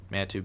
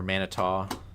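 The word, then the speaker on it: Manitou: just passed over Addison and Manatu Beach or Manito depending on what part of the state you're in. It's pronounced both ways.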